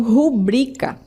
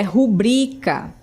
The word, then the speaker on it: rubrica: Então, muitas pessoas falam rúbrica, aliás, rúbrica, né? Como se o acento tônico fosse no ru. Mas a palavra rúbrica está incorreto. O correto é rubrica.